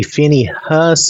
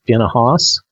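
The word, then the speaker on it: Phinehas: then the Lord spoke to Moses saying Phoenix now you could say Finney Huss I guess or almost Phineas that's kind of what it looks like but I'm pronouncing it more female finna Haas finahas the son of elizar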